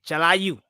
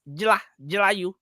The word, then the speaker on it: Jilayu: From the onset, when you first joined the show, I would say Jalayu. But now I've come to understand that it's Jilayu.